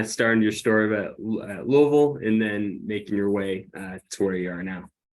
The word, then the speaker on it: Louisville: Yeah, Louisville. Some people say Louisville. I think I think we all say Louisville if you're from there. Yeah. So yeah, kind of starting your story about Louisville and then making your